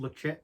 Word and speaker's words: Ledaig: Changes for some reason it's called lecheck even though it's spelled with a d yeah I think is